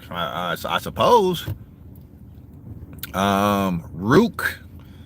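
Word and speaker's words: Ruke: I I suppose um Rook it's like Duke but it's spelled with a r r u k e and then his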